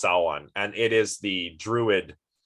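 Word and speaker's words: Samhain: This word is pronounced Sawan. It looks like Sam Hain. It's pronounced Sawan, and it is the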